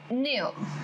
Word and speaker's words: near: So near. Getting back to the point, near. Near. R is silent.